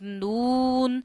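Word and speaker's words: نون: This is noon, and it has very easy pronunciation. You have to touch your tip of the tongue to the roots of upper four front teeth.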